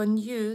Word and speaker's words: knew: На дієслово knew, це минулий час, від know, неправильне дієслово. Ось, і звертаємо увагу на вимову K, ми не вимовляємо. В багатьох словах поєднання KN на початку слова K не вимовляється.